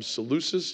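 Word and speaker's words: Seleucus: general was named ccus we call him salus even though we shouldn't be pronouncing the sea that way but I digress and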